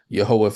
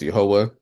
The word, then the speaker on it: Yehovah: We pronounce it as Yehovah for our Bible study.